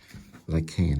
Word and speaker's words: Lycaon: Or Lycaon. Sorry, Lycaon. Lycaon is the English pronunciation.